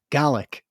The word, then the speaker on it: Gaelic: you pronounce it it you should pronounce it like the word garlic but without the ah garlic garlic yeah that's